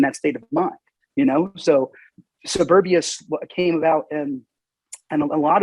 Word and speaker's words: Soberbia: And Soberbia is spelled Soberbia, Soberbia. And it's a play on words. Like you said, it's not suburbia in the way of like living in the burbs outside the city.